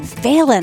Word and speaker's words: Phelan: Okay, with that, please enjoy this conversation with Phelan. You know, the first thing I want to ask you, it's Phelan? Phelan.